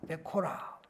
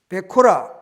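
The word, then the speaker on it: בכורה: 베코라. 제가 발음이 정확하지 않을 수 있지만 베코라입니다. 그리고 이 복은 베라카입니다. 베코라, 베라카 아주 이렇게 발음상 비슷하고 이렇게 알파벳을 보더라도 상당히 닮아 있습니다.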